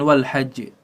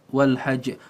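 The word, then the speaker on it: والحج: itu linnasi Wal Hajj jadi cara membacanya ditahan sedikit bukan Wal Hajj Wal Hajj Wal Hajj Wal Hajj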